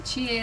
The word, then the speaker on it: Tie: You write like Thai, but I'm not a Thai. It's Chie. You pronounce Chie. It's a So Japanese name. T-I-E. It's a Japanese name.